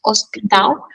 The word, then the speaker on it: hospital: So the H in Portuguese is mute, hospital.